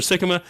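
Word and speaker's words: Sikkema: for those you don't know who's here Trevor Sikma is that the correct pronunciation Sikkim ah yeah look at that like jicama yeah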